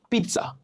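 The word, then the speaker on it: pizza: করে থাকি, সেটা হলো আমরা এটাকে পিৎজা বলি, তারপরে পিৎজা বলি, হ্যাঁ, পিৎজা বলি, কিন্তু এর উচ্চারণ কি হবে? এর উচ্চারণ হবে পিৎজা, পিৎজা, পিৎজা।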